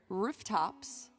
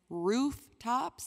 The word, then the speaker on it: rooftops: Do you pronounce it rooftops as in ooh? Excuse me. Or do you pronounce it as rooftops as in er?